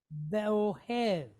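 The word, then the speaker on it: ואוהב: This is a long duration E-type vowel. So like EH with a V sound behind it. Ev, hev. Okay, so we have ve'ohev, ve'ohev. Ve'ohev.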